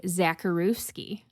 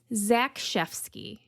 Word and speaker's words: Zakrzewski: It is spelled Zakrzewski. I was definitely going to say Zakrzewski. I was. That's what I was going to say. And it's Zakrzewski.